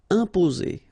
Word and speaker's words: imposer: imposer. Okay, remember, EM together like that, and a consonant after, you will get here the nasal sound. So it will go like un, imposer, imposer.